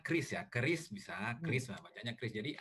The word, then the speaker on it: QRIS: yang dilihat di video jadi krisis ini bacanya chrisya Keris bisa Krisna banyak